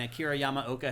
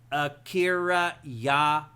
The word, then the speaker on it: Akira Yamaoka: Yeah, we went to it was a Silent Hill movie that came out, and Akira Yamaoka had done the music for it, and they